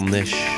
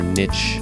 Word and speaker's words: niche: Okay, we really need to start trying to find something else, and we have to find our own little niche, or niche, depending on how you want to pronounce it.